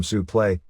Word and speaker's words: suplex: to use the term suple like still used in the amateurs which is the correct pronunciation of the original French word spelled suplex a word which has